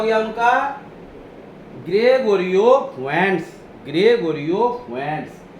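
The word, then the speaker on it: Fuentes: फुंटेस नहीं, फुएंट्स, फुएंट्स पढ़ते हैं जल्दी। प्रोनाउंसिएशन क्या है? फुएंट्स, है ना।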